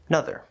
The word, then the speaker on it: another: In some cases, like another, that first syllable is It's an actual real true schwa sound, the upside down E. But it's possible to kind of just drop that sound, especially informally, and say, "Nother.